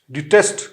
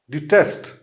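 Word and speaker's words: detest: डिटेस्ट कहते हैं नफरत को, इसकी प्रोनाउंसिएशन कुछ इस तरह होगी, डी आई टी ई एस टी, डिटेस्ट, ठीक है। इसकी जो है प्रोनाउंसिएशन इजी है, सिर्फ जो है फर्क इस चीज का है कि हमने डी के बाद आई जो है वो लगाई, डिटेस्ट, इट इज नॉट डेटेस्ट, ठीक है, इट इज डिटेस्ट।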